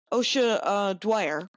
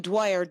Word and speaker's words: Dwyer: She opened for me at Bombs Away in Cincinnati, and her name is Ossia Dwyer, and it's spelled Ossia, I believe, right, Kyle? Yes, indeed. And then Dwyer, like Bill Dwyer, but Yep.